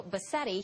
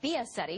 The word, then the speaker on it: Biasetti: Fox News producer Mario Bassetti. He is on the phone from Rome, has been following this for us. It's Mario Biasetti, excuse me, let me get that syllable in there.